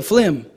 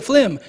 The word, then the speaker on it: film: want to go see a flim and I said I don't know what a flim is what is a flim you know at Movie Town we're going go see a fim like oh a film oh okay but in Trinidad fim is an acceptable pronunciation as well yes thank you for